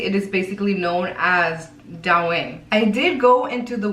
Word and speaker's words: Douyin: so it is what it is, but it is spelled D-O-U-Y-I-N, Douyin.